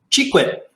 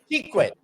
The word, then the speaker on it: Chequit: Is that how you pronounce it? Chequit. Chequit.